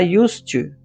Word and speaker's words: used to: Se vocês lembram de aulas anteriores, nós temos verbos que terminam em D, que tem o som de T.